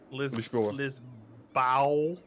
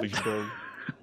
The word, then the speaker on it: Lisboa: Lisboa. What? Lisboa.